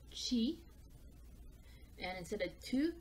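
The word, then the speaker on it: ち: Now, instead of T, we're actually going to pronounce it Chi.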